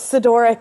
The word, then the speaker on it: Sidoryk: Today we are joined by Citric. How's it going? It's good, thank you. Everything's good. I pronounced your name right. Pretty close. Sedoric is how you pronounce it.